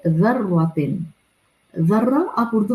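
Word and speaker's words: ذرة: ये ज़र्रा, फमन यअमल मिस्काल ज़र्रतिन, ये ज़र्रा ज़ा की नरमी के साथ अदा किया जाता है। When you will pronounce this vowel, तो आपकी tip of the tongue will come slightly outside from front teeth incisors से।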